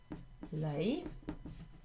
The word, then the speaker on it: l'ail: The word is l'ail.